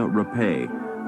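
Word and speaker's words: Rappe: An aspiring young actress named Virginia Rapay, but pronounced Rape by the media, joined an Arbuckle party in room 1220 of San Francisco's St.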